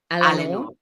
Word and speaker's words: Eleanor: And then can I just ask, was it, the pronunciation is Eleanor? Eleanor.